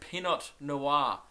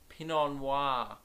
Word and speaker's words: Pinot Noir: and obviously when I read it I read peanut noir because I can't speak and when I pronounce things I think they're correct term is